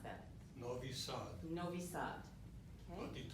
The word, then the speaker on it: Novi Sad: And how do you pronounce that? Novi Sad.